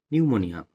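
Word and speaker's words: pneumonia: করে নিলে মানে নিঃশ্বাসের মধ্যে নিয়ে নিলে কিরাই নিউমোনিয়া এখানে একটা ইংলিশের কোশ্চেন আছে নিউমোনিয়া বানানটা কি দিয়ে শুরু হবে কি দিয়ে শুরু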